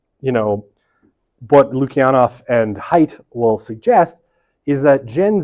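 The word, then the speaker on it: Haidt: close friend and collaborator Jonathan hate or sorry Jonathan height is pronounced height um I'll spell it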